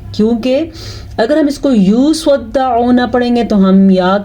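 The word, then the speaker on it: يصدعون: ہے، اکثر لوگ اس کو پڑھتے ہیں یصدعون، یصدعون، یہ غلط ہے کیونکہ دال پہ شد ہے، تو اس شد کو ضرور آپ نے پڑھنا ہے۔ آپ نے پڑھنا ہے لا یصدعون، آئین کے تلفظ پہ خاص دھیان رہیں۔ اگر آپ اس کو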